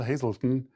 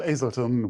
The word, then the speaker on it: Azelton: 33 minutes with hazelton hazelton now i i pronounce the age damn it with azelton will begin soon thanks